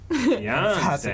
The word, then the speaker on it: Tianste: The emphasis. Tianste. It's like Beyonce, but with a T.